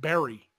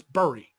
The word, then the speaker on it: Bury: Edmund's but I was saying it Barry because like you bury somebody you know like I marry you you know but because that's how it's spelled but it's Bernie Bernie st.